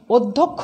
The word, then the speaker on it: অধ্যক্ষ: করছি, অধ্যক্ষ আমরা লিখছি অধ্যক্ষ আমরা উচ্চারণ করছি। তাহলে আদ্য অয়ের পরে জফলা থাকলে আমাদের আদ্য অয়ের উচ্চারণ ওয়ের মতো হবে।